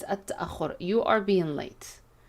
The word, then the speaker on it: التأخر: التأخر. And be careful with this verb. It's not التأخير, it's التأخر.